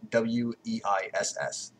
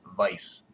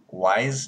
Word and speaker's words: Weiss: Now, it's spelled W-E-I-S-S, but in brackets, it explains that because this